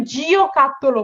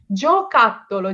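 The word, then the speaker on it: giocattolo: হ্যাঁ, এখানে কিন্তু জিও কাত্তলো পড়বো না, বা কেউ কখনো জোকাত্তলো শব্দটা লিখতে গেলে জি ও দিয়ে লিখবেন না, কারণ নাহলে এটা হয়ে যাবে আরেকটি প্রোনাউন্সিয়েশন। তো এখানে আমি যখন পড়বো, এটা পড়বো জোকাত্তলো, জি ই ও।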